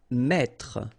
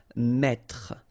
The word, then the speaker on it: mettre: Okay, so here you get this and then you get double T here. Okay, so the thing when you get this double consonant, so it must be the same, just after this then it will open the sound of so you will get the sound E. That's the reason why you will pronounce mettre, mettre.